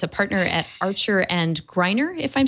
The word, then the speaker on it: Greiner: Ron writes the Likelihood of Confusion blog, and he's a partner at Archer and Greiner, if I'm saying that right?